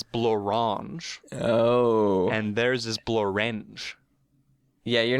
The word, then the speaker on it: Blorenge: and theirs is Blorenge. Yeah, you're not pronouncing it correctly then.